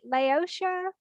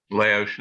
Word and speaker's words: Laos: Malaysia, No, Laotia, Laos, Laos.